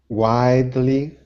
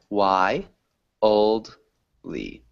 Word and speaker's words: wildly: you repeat wildly wildly widely widely closed it almost has three syllables so we say why old lee a wildly why oatly wildly nice good job wildly